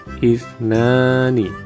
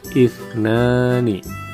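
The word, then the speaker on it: اثنان: Angka 2 dalam bahasa Arab, cara membacanya ifnani, ifnani.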